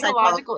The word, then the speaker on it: psychological: It starts with a P and the P is silent. It's our very tricky question. Psychological age.